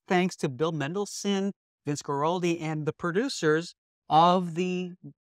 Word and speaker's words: Guaraldi: this is originally written by the great Vince Guaraldi did I say his name work correctly yes